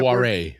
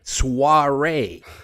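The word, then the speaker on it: soirée: It's the big uh how do you how do you pronounce that? Suare. Suare.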